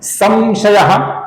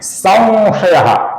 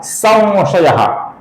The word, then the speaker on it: संशयः: और फिर अंतिम नाम है छिन्न संशयः, जिसके अनुस्वार का, स के ऊपर के अनुस्वार का हम अपूर्ण व ऐसा उच्चारण करते हैं। संशयः या संशयः, ये गलत उच्चारण है। इसका सही उच्चारण है संशयः, संशयः, अर्थात छिन्न संशयः।